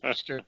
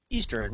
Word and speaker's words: eastern: never come across Eastern Eastern yeah that's an eastern island or something I don't know but there's no third syllable in eastern or pattern that's the